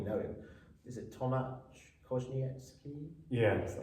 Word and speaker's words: Konieczny: Is it Tomasz Konieczny? Yes Konieczny.